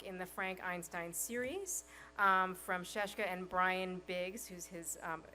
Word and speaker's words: Scieszka: hear about his work so please welcome John sheshka wow thanks guys and actually you've done the